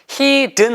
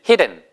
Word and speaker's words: hidden: hidden 하셔도 되고 아니면 hidden은처럼 발음하셔도 돼요. 저도 길게 발음하시면 안 돼요. he가 아니고 hidden 아니면 hidden 됐습니다.